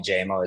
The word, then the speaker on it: Jamo: that just kicked around a lot of people pronounce it jammo uh yeah it's j it's jmo I I don't really correct people but um I I kind of like hearing jamo a little bit uh more